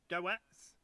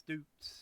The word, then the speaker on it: Doets: Good play, Kevin Dukes, or Doets, as it's spelled. But it's Dukes.